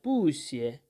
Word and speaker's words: 不谢: Here, there is a rule in Chinese language that when two fourth tone syllables are following one after another or following each other, then we change this first fourth tone into a second tone, which is a rising tone, and the second fourth